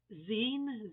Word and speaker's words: zine: this is um now i think it's pronounced zine z-i-n-e and um i saw this